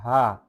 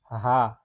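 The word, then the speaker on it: ح: আর এটা এটা হচ্ছে হা এটা হা তাইলে হাটা তাহলে হাচ্ছে একটা হাচ্ছে আরেকটা তাহলে এটা একটু মানে একটু বড় কন্ঠ বলতে হবে যে হা মানে একটু আওয়াজ করে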